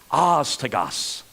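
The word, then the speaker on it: ἄστοργος: in on the screen it's pronounced hasta Gus hasta Gus translating the King James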